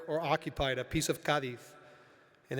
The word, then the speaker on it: Cádiz: Over the years, I've been asked what could possibly unite the United States with a city that is pronounced by locals with a lisp.